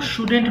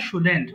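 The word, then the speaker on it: shouldn't: শুডেন্ট লিখেছি তাই না শুডেন্ট উচ্চারণটা খেয়াল করো সাধারণের উচ্চারণ ঠিক আছে এটা কিন্তু শুডেন্ট হবে শুডেন্ট আই সুডেন্ট রাইট আমার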